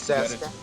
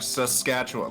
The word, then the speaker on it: Saskatchewan: It's Saskatchewan. No. The first syllable is wrong. You gotta say sus, like Saskatchewan, like sus, man. But it's an A. Sus.